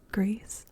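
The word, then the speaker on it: Gris: And then Greece, I think is how we're going to pronounce this, because I think it is like Spanish. Greece means gray.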